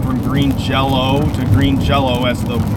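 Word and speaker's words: Green Jellö: pronounce the name correctly it's not green jelly it's green jello the why the why with the two dots above it is supposed to be oh because of you know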